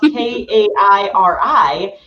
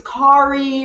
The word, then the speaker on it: Kairi: from Kingdom Hearts, and it's spelled Kairi, and no one ever gets it right. It's always Kari or Kiara, and like.